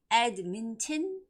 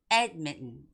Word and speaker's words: Edmonton: And the word Edmonton. Edmonton? No. Normally, you would have to say Edmonton, okay?